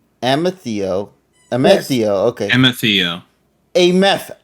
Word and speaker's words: Amethio: amethio is there waiting think about the rock amethyst but then take out the fists and replace it with Theo amethio amazio okay mfeo a